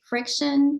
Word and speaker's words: FriXion: And this one's by Friction. It's spelled Frixion, by Pilot.